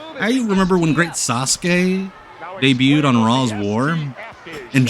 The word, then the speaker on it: Sasuke: up and hard I you remember when great Sasuke debuted on raw's war and Jim Ross only knew the incorrect way he pronounced kinsuk or he pronounced kuki uh so he called him the great sasuki blue sky is the best I believe the